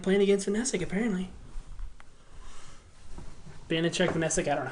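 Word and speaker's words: Vaněček: You know that's how you remember how to pronounce Vanichek's name. Yep. VTEC Vanichek.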